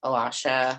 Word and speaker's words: Alasha: My name is Alasha, pronounced Alasha. I know it's not spelled the way it sounds.